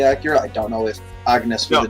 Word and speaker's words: Agnes: There's no G anywhere in that. Yeah, it's just Agnes.